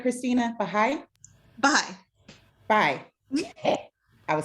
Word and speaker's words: Baha'i: Baha'i? Baha'i. Baha'i. I was saying it phonetically.